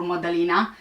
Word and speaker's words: Madalina: an eye out for modeling which is the proper way of pronouncing the name was last seen at